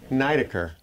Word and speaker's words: Nidaker: work by laureen knight nidaker accent on the first syllable grandfather advised me learn